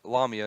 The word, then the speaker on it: Lamia: lamiya some people say la mia which llama la mia is technically the correct way to say it but I said mark lomita I've said this in previous videos mark lumia